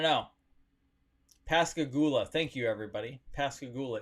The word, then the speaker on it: Pascagoula: pascagoula thank you everybody pascagoula is the correct pronunciation of that nice little